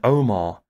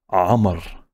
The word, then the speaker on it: Amar: that to yourself and omar isn't even how you say my name it's amar good luck trying to